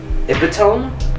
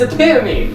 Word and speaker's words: epitome: say this word what word this word epone epome go ahe again oh epitome oh it's epitome I'm stupid isn't the epitome of Cutting Edge